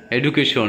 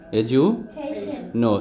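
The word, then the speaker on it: education: হবে ডেইঠা তারপরেরটা এডুকেশন এডুকেশন সবাই বলে এডুকেশন কিন্তু আসলে সঠিক উচ্চারণটা কি হবে এজু খেইশন এজু খেইশন এজু খেইশন খেইশন তারপরেরটা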